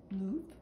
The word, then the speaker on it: Louvre: When I think of Paris, I think of the Louvre. The Americans pronounce it Louvre.